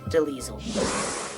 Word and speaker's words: Delisle: Gray Delisle, sometimes pronounced Deliesel.